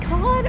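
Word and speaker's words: Cannes: Yeah, it's can. It's can. So if you say con are you being pretentious? Uh, you're just being American.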